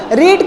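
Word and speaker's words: read: रेड Hindi में रेड अब इसको रेड पढ़ेंगे नॉट अ रीड ठीक है रीड नहीं पढ़ेंगे क्योंकि इसका थर्ड फॉर्म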